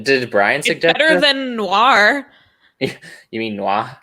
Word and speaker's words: Noir: You don't pronounce the last R like you do. It's like, it's not Noir, it's Noir.